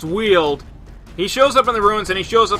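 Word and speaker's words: Weald: up in the wheeled i did find out it's pronounced wheeled he shows up in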